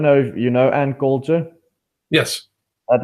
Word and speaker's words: Coulter: But people are starting to I don't know if you know Ann Coulter.